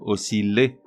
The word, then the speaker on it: osciller: Là aussi, il doit se prononcer comme dans ville et non comme dans piller. On dit donc osciller, tout comme on dit